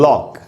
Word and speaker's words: lock: अब देखिए एल का उच्चारण हो रहा है, ओ का उच्चारण हो रहा है, के का उच्चारण हो रहा है, सी का उच्चारण तो नहीं हुआ, लॉक। तो यहाँ पर सी साइलेंट है, क्यों?